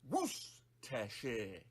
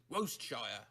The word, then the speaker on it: Worcestershire: Worse. Upside down E. Worcester. Worcestershire. With the main stress on woos. Skip pronouncing the first R altogether and the CE while you're at it, and barely say the second R.